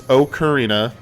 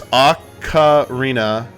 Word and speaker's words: ocarina: them out loud clouds the way I say it is okarina then there's acarina Ocarina so acarina acarina acarina or AAR so it's either AKA or AKA and then either Reena or Reina for the those variations for